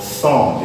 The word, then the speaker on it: thumb: This is called thumb because when words end in NB, the B becomes silent.